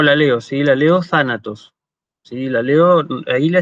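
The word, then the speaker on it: θάνατος: Pero en griego clásico, aparentemente, lo que pasaba era que en la sílaba donde llevaba el acento, es decir, en tha, el tono se elevaba y volvía, digamos, a bajar en la sílaba siguiente, de manera que yo decía thanatos, thanatos.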